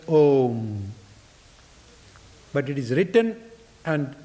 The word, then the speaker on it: om: see in a, u, when you put together and say that aum, the a and u can easily be o. So it's om.